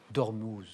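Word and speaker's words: Ormuz: je suis le détroit dormous dormuse dormuse dormous dormous dormous hein oui c'est u mais on prononce où le D trit d'ormous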